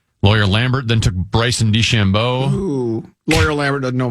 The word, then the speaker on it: DeChambeau: Do you like saying DeChambeau or DeChambeau? DeChambeau. See, I like the emphasis on the second syllable. I like DeChambeau.